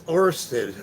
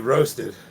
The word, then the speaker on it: Orsted: Uh, I'm saying your name wrong. It's Orsted. Ored 9995. I was calling you. Roasted.